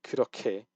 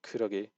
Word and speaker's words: 그렇게: You have to say 그렇게, not 그러게.